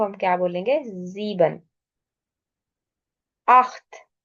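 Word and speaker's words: acht: हम क्या बोलेंगे जीबन अख्त अख्त क्योंकि ए सी एच हमने पढ़ा था कि सी एच से पहले ए आ जाए तो ख की साउंड आती है अख्त नयन अब इसमें इ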